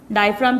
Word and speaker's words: diaphragm: डायफ्राम की spelling अच्छे से लर्न करिएगा स्टूडेंट, इसमें जी साइलेंट है.